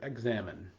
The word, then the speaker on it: Examen: this this thing called the exam examine um and or the examin as it's kind of sometimes pronounced depending on who you are.